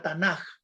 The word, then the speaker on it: Tanaj: Pues va a utilizar lo que tenemos acá, este cuadrito que está a la izquierda, la Tanaj, así se pronuncia, ¿no?